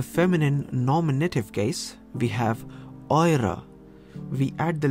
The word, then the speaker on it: eure: So it is pronounced eure and not euer.